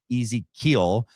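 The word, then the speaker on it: Ezeqeel: Uh Ezequeel, um not spelled like Ezekiel. It's like Easy-keel, uh imparted the knowledge of the clouds creating the basis for meteorology and weather omens.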